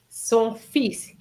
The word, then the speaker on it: son fils: Is The son pronunciation. fils. Son fils.